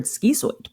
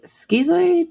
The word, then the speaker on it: schizoid: throughout school, I heard schizoid. So schizoid doesn't have a T in it. I'm German, but I'm not that German.